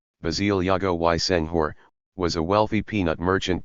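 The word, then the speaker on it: Basile Diogoye Senghor: His father, Basie Diogoye Senghor, pronounced, Basie Diogoye Senghor, was a wealthy peanut merchant belonging to the bourgeois Serer people.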